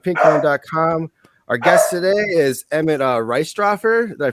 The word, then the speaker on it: Emmett Reistroffer: Our guest today is Emmett Reistroffer. Did I pronounce that right?